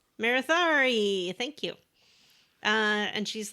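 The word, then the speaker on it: Marethari: i wasn't sure how to say her name marithari marathari thank you uh and she's like yeah thanks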